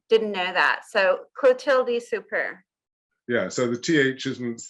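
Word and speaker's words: Soupert: So it's a bit like super, but a bit more of a rolling R at the end. But you don't pronounce the T at the end, so super.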